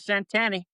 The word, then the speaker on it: Centanni: Pronounce my name the way they pronounce it down on the bayou. Centenni.